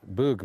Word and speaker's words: Bug: river is coming in it's pronounced to Boog but it's be ug so it's bug for English speakers and maybe for speakers